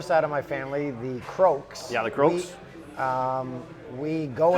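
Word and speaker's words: Crough: And lets me clear up anyone from outside Peterborough, when they see C-R-O-U-G-H, they have no clue how to say it. No. It's Croak.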